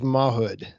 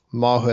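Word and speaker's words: Mawhood: command of a man named Charles Mahood um mood I looked that up I think that's how you pronounce it on January 3rd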